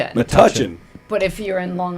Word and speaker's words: Metuchen: Metuchen. Metuchen. But if you're in Long Island, you pronounce it Metuchen.